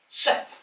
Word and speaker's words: 4-SEP: E is a vowel. We pronounce vowels in the south. If there isn't a full stop there, then we don't break it down into individual letter, nor does any Southern Region railwayman.